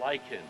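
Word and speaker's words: lichen: actually called um a lyan right and um the H is silent yes yes I really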